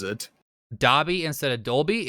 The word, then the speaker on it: Dobby: i've always said dobby it is spelt dobby not dolby like the sound system d-o-b-y it's still dobby like it's always pronounced dobby so far we have